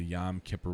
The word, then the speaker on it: Yom Kippur: peninsula from israel at the beginning of the yom kippur war um i really don't know so that's